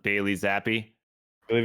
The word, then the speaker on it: Zappe: It's I believe it's pronounced Bailey Zappi.